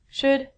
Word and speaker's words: should: All of these L's are silent. So it sounds like, should could, and the thing that we get from trees would.